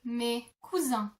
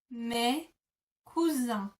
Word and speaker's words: mes cousins: In French you would say mes cousins. Mes cousins. Mes cousins.